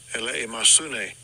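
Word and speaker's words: ἐλεημοσύνη: Elimosyne. Elimosyne. It's got to be right. I mean, if he says it, it's got to be right. That's the way you pronounce Elimosyne.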